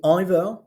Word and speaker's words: either: Some people are going to say either. I say either, you say either. It's actually a song. Both pronunciations are acceptable, so use whatever.